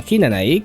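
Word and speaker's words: 比那名居: Nai, and by extension Hinanai, contains the kana wi, which is not used anymore in current Japanese and is simply pronounced as I when encountered.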